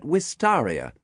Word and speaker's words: wistaria: Some botanical purists still insist on pronouncing it Wistaria.